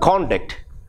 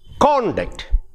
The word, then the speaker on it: conduct: it in the word conduct what happens is ah if it is if the stress is on the first syllable say con and the word means conduct now we say conduct